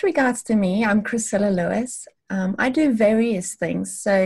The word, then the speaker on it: Lewies: Do you pronounce it Lewies? Yes, I guess Lewies. The right pronunciation is actually Lewies.